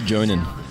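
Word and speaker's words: Jhonen: It's actually pronounced Jonan. Sorry, Jonan. Crazy but true.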